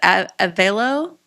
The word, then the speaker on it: Avelo: Oh, it's that How do I How do you pronounce it? Avelo? Avelo airline airline.